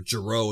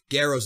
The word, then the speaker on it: Gero: Garrow's union, or Gero in the dub, whatever. Garrow's the way you pronounce it.